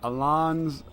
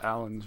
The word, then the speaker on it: Alans: as to alan's or Ilan's as I have heard many times with Tiger people are so my friends only you know you're an idiot it's not pronounced Allen's right you idiot well